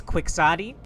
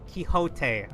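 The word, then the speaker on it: Quixote: By the way, if I ever hear a single one of you pronounce this as quicksotti ban. All right. I'm arming pork and alongo with banan hammers. I give you full send it. Kiote.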